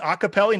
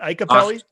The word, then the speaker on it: Iacopelli: name though do you it's pronounced acapelli not ikeli yeah a lot of